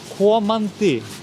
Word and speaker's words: komandi: but the next one is komandi Komandi.